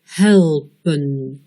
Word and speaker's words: helpen: Helpen. Le premier E est un son bref, E. Le deuxième est le E muet.